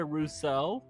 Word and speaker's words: Rousseau: Oh, it's Rousseau. You pronounce it Rousseau? Rousseau? You know, like on the Wizards of Waverly Place, Rousseau.